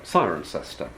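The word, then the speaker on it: Cirencester: it isn't okay so why does it come to be called siren sister the answer can be dealt with simply by looking at ptolemy's form in the top left-hand corner and changing the o and the first eye around giving you kironium if you have kieronium that explains for english phonological reasons precisely the name sirencester as transmitted uh in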